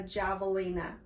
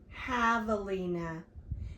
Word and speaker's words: javelina: the collared peccary a javelina. Miss May pronounced it wrong. It says it's pronounced javelina. It starts with the letter J, but it makes the H sound.